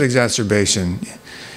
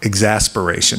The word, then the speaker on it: exacerbation: that's a good one yeah exacerbation who said exacerbation you get bonus points for actually pronouncing it correctly most people say and most nurses say like exasperation which kind of fits - yeah you hear